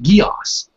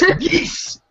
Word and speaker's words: Geass: they mentioned Geass, and they pronounced it like Geass, and I'm like, what? This dub sucks. It's Geass. It's Geass.